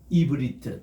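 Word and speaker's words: עברית: 요드 하면은 이브리트. 따라합시다. 이브리트. 이브리트. 요게 오늘 히브리를 우리가 배운다 할 때는 이브리트라고 이렇게 발음을 해요.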